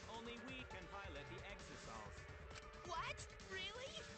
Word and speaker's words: Exisal: Only we can pilot the Exisals. What? Really? It really is pronounced Exisal.